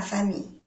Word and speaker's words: famille: La dos L's y la E se pronuncia Y.